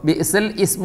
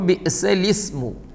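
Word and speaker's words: بِئْسَ الِاسْمُ: ഉച്ചാരണത്തിൽ ഉണ്ടാവില്ല വായിക്കൂല അപ്പോൾ ബിസൽ ഇസ്മു എന്ന് വായിച്ചാൽ തെറ്റാണ് അപ്പോൾ ആ ഹംസ ഉച്ചാരണത്തിൽ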